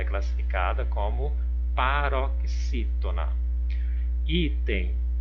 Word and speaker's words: item: Item. Olha, a sílaba tônica aqui é o I. Então, vamos verificar a posição. Foi a última sílaba? Não, foi a penúltima sílaba. Então, nesse caso aqui, essa palavrinha, ela é classificada como paroxítona.